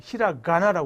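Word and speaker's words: ひらがな: 갖고 있는 사람들이 많아 어떤 사람 인터넷 보면 히라 가라 가다 가라이 엉터리로 발음하는 사람도 있는데 얘는 요거 타음이라고 해서 점이 있지 얘는 죽어도 까라고 바음 못해 히라 가나라 해야 돼 근데 얘는요 타음이 없으니까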